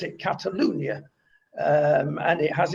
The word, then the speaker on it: Catalunya: with a bit of knowledge about catalunya or catalonia as it's known in castiliano but they pronounce it catalunya um and it has its own language which